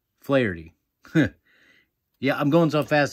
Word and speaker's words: Flaherty: Jack Flattery. No. Flaherty.